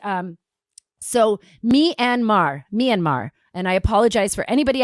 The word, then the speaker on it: Myanmar: in on this um greg am i saying it correctly me and mar myanmar myanmar okay you see i was not saying it correctly myanmar i love greg you